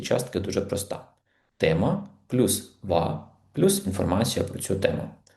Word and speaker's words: は: Наприклад, у вас запитали: "Чим ви займаєтесь?" І ви відповіли: "Я студент гакedс". Давайте перейдемо до частки ва. Вона читається як ва, хоча написується за допомогою хірагани ха.